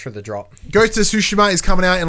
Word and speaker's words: Tsushima: It's Tsushima.